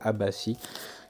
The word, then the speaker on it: Abbassi: Mais j'ai rencontré aussi Sarah Abbassi, je dis juste, oui, je prononce juste Abbassi, qui m'a fait aussi une dédicace.